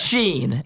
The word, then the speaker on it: Shein: I'm just saying, when I talk to people every day, everybody says Sheen, but you guys can call it Sheehan.